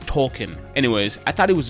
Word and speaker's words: Token: Tolkien and by the way if you say token you're part of the problem because his name is pronounced Tolkien anyways I thought it was very funny when